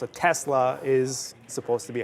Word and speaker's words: Tesla: his background as Serbian, based on how they pronounce it, it's apparently S, which makes sense. How it looks is how it's pronounced. A Tesla is supposed to be how it is.